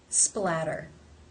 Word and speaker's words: splatter: pronounce the t's here they come between two vowel sounds therefore it is the flap tap t or the D sound splatter splatter how do you